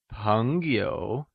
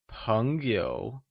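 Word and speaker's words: 朋友: In mandarin, Friends translates to Péngyǒu Heres a peculiarity to note! In pinyin, the word p is pronounced with a mixture of the tones p and b Its pronunciation is close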